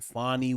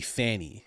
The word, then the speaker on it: Fani: and Leticia James and fonnie Williams and all of those people sorry mispronounce it's actually Fanny Fanny Willis my apologies sorry sorry